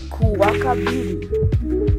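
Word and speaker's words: Kuwakabiri: the video first we'll start off with Tuesday Kaka Beauty k u w a k i b i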